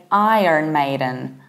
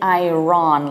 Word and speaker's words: Iron Maiden: However, in the American accent, it sounds a little bit different. We say Iron Maiden. Iron. So we do pronounce the R. However, we don't say Iran.